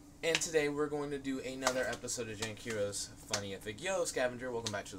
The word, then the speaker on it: Funnifyic: Funnifyic is the right way to pronounce it. Not Funnifyic, which is what you started doing. I believe it's Funnifyic.